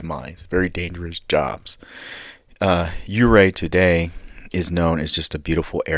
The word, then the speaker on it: Ouray: a quick review of uray Colorado um you I might pronounce it wrong every once in a while but it's uray is how it's supposed to be uh pronounced its nickname